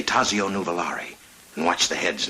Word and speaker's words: Tazio: in the know that even though in english we'd say tazio in italian it's pronounced tazio um i am so